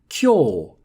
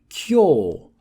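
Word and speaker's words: 今日: Konnichi used to be pronounced like that, to say today, but now the language has evolved, and with the same kanji or Chinese characters, we would read them kyo, kyo.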